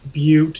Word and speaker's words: Butte: No, there's all those people like, it's pronounced Butte, you trailer trash.